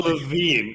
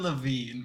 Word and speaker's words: Lavigne: Avril Lavigne is in this film as Avril Lavigne, but written Levine. Avril Lavigne? Yeah, like same pronunciation but different spelling.